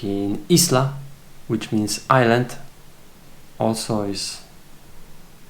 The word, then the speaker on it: isla: It's pretty obvious because you pronounce it E, but for English natives it will be a little bit different because you guys pronounce it island, and this will be isla.